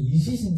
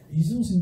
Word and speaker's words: 이순신: 제가 어릴 때 발음이 안 돼. 이시신 장군이었는데. 저는 지금 정확하게 할 수 있습니다. 이순신이라고. 이순신 장군이, 여러분들, 이 사천해전 들어보셨나요?